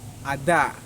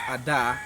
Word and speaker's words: Adar: into the 12th month, which is the month Adar. The month Adar. It is spelled A-D-A-R.